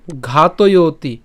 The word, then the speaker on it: ঘাতয়তি: এরপর পার্থ কং ঘাতয়তি, ঘাতয়তি, ঘাতয়, আমরা যদি ঘাতয় অর্থাৎ ত অন্ত্যেষ্টিয় পর্যন্ত যদি উচ্চারণ করি পুরোটি না করে ঘাতয়, তাহলে কি থাকে, অতি থাকে। তো দরকার নেই, আমরা এটাকে একসাথে উচ্চারণ করব ঘাতয়তি।